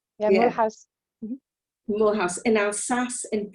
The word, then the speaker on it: Mulhouse: You were born in, I don't know if this pronunciation is right, Mulhouse. That's the English pronunciation, yes. Yeah, Yeah. Mulhouse.